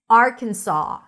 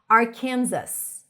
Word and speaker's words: Arkansas: Once upon a time, up until 1881, the pronunciation of the S was noticeable at the end of the word, so it was actually pronounced more like Arkansas, Arkansas. But the pronunciation of the name of the state of Arkansas with a silent final S was made official in